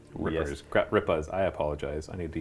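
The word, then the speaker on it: Gutrippaz: So I'm going to have these gut rippers. Gut rippas. I apologize. I need to use my proper pronunciation.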